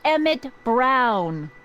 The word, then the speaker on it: Emmett Brown: bill to a t that's emmett brown rhymes with clown which i'm beginning to